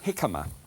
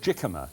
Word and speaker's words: jicama: Here is a jicama. It looks as if it should be called jicama, but it's not. It's pronounced, it's with a J.